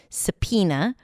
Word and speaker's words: subpoena: You start with an S sound, then a schwa, sa, then P as pizza.